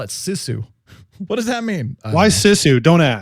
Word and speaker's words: Sisu: Do you know how to pronounce that? Sisu? Sisu? It's Sisu.